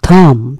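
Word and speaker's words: thumb: থামের ক্ষেত্রে খেয়াল করবেন, এটি কিন্তু একটা সাইলেন্ট ওয়ার্ড, অর্থাৎ এখানে বিয়ের উচ্চারণ হবে না, সরাসরি উচ্চারণ হচ্ছে থাম।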